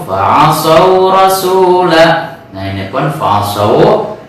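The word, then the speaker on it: فعصوا: Nah ini pun fa'asau, cara membacanya dilayinkan, dilembutkan seperti halnya Fir'aunu.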